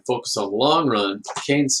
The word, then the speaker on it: Keynes: So at that time, along comes a great and famous economist, John Maynard Keynes, and it's pronounced Keynes, and his followers are called the Keynesians.